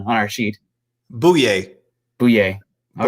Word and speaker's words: Bouye: gonna put this on I put down the pronunciation on our sheet boo yay boo yay all right boy yay oh yay